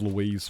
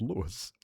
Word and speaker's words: Lewis: It was Louise for like a year before I found out that I was pronouncing their name wrong because it's not Louise, it was Lewis.